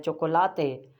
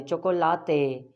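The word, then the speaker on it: chocolate: जैसे चॉकलेट होती है इंग्लिश में, स्पेनिश में बोलते हैं चोकोलाते। ए की साउंड एंड में आ रही, चोकोलाते, ए।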